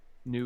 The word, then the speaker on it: GNU: I've decided I'm no longer gonna pronounce it hard G. It's not gonna all be pronounced like gnome. New Just slash new.